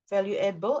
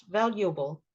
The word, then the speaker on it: valuable: just sound individual individual this one you keep saying value edible I think it's valuable valuable well viewable able valuable